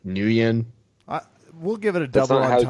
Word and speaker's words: Nguyen: is that supposed to be like Win, like Nguyen? We'll give it a That's double not how- entendre pass because it was No, positive. that's how you. Is that- That's how you pronounce the name is Win.